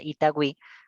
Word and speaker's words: Itagüí: con los 2 puntos, digamos en la palabra Itagüí, automáticamente tú sabes que esos 2 puntos tienes que pronunciarlo como Wi, ¿sí o no?